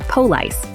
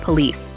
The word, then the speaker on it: police: problems wrong syllable stress putting the emphasis on the wrong syllable can change the meaning like saying poce instead of police flat stress speaking all